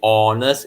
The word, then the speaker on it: honest: be careful just now i say honest it is a silent h sound so you have to